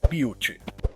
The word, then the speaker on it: Butte: Confia em mim, foi difícil não rir do nome Butt Nugget, porque parece um pouco com butt, mas o nome se pronuncia Butte.